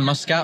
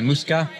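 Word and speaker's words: Muscat: had already been recked into the muskat OR I say Musa apparently that's the correct way to say it um having just I've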